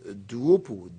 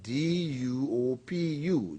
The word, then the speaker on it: Duopu: We also have another Bai Bala, that's B-A-I, and the last name is spelled G-B-A-L-A, Bai Bala. We also had another individual called Moses Duopu, D-U-O-P-U, Duopu.